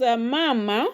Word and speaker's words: mama: Mama has two syllables. So the second from the end of course will be ma. which is the first one there ma. So if you count from the end and it has two syllables. So of course the stress is going to land on the first one there. So it will be mama.